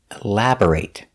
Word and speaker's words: elaborate: We pronounce the word elaborate with the long A sound when it's a verb. The pronunciation, elaborate. Elaborate. The stress is on the second syllable. Elaborate. B-O-R is pronounced burr, not bore, elabor, but burr, elabor, elaborate.